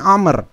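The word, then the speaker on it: عمرو: Kalau ada wawu di akhir maka dibacanya Amr. Kalau tidak ada maka dibacanya Umar.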